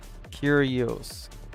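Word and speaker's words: Kyrios: Curios comes from the Greek language is pronounced k curios cur curios curios. Okay. Curios kios.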